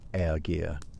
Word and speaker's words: ergi: The most cutting thing a man could be called wasn't coward or traitor, but something closer to ergir, pronounced ergir, a word that brims with contempt.